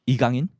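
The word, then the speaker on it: 이강인: It's in proper Korean pronunciation. It's called Igangin.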